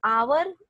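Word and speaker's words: hour: तो आवर यू से ओ से होता है उसका प्रोनाउंसिएशन आवर, तो फिर आप एच साइलेंट कर देते हैं तो वहां पे आप एन का इस्तेमाल करते हैं.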